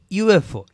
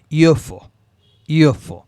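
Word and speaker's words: UFO: দেখেন ইউএফও, আচ্ছা এখানে দেখেন ইউটা কি। সো ইউটা আমার স্বাভাবিক দৃষ্টিতে ভাওয়েল এন হওয়ার কথা, বাট এখানে দেখেন ইউটার যে উচ্চারণটা হচ্ছে এটা হচ্ছে ইও, এরকম উচ্চারণ হচ্ছে। তো ওয়াই দিয়ে স্টার্ট হইতেছে, ইউএফও। আচ্ছা ইউরোপিয়ান, ইউ, এখানে সেম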